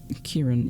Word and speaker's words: Kieran: It's pronounced Kieran, yeah, I know.